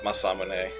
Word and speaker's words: Masamune: But no, it Yeah, it's that's actually not how how it's pronounced. That's not where the accent goes. Yeah. Masamune.